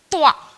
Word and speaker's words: त्वा: ठीक है, कई बार आप लोग जब इसका उच्चारण करते हैं तो कई बार कतवा कह देते हैं, क्योंकि त्वा नहीं बोल पाते या नहीं समझ में आता, तो इसको आपको बोलना है त्वा।